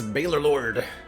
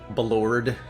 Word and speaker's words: Baalorlord: My preferred pronunciation, Kill a Penguin, is Baylor Lord. Or Baylor. But I've heard people mispronounce my name pretty much every way under the sun, and I find them all kind of amusing. So, Baylor Lord, Balord, and various other variations.